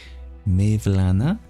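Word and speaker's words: Mevlana: that you share that you call him Mayana J jeni this he is pronounced like J that's right I recall seeing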